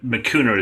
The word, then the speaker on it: Makuna: Makuna is how you pronounce our name.